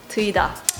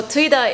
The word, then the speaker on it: TEUIDA: I think in Korean pronunciation it would be TEUIDA.